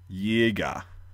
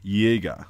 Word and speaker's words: Jäger: same sound in English, a J is a Y sound, like ya. And then the A with the two dots, called an umlaut, just makes it a long A sound. So, Jaeger, Jäger, right?